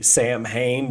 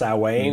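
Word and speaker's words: Samhain: And I don't even know which language it comes from, but you know, we see in our vernacular, we see Sam Hain, but it's pronounced Sawane.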